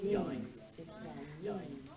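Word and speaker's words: יין: Yin is how it's spelled, pronounced typically yine. Yine, sort of like wine.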